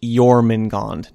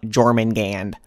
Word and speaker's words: Jormungand: Yes, the title is pronounced Jormungand, not Jormungand.